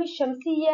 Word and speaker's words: الشمس: أما الموضوع الثاني الذي سنتحدث عنه هو دخول اللام الشمسية على الأسماء المبدوئة باللام. لاحظ أن ال الشمسية هي لام تكتب ولا تلفظ، ومن اسمها شمسية نقول الشمس، فلاحظ أنها لم تلفظ ونقول لعب اللعب.